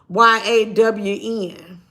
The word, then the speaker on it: Jan: But do you know the beginning of the damn response was, Jan is a he, and it is pronounced YAWN.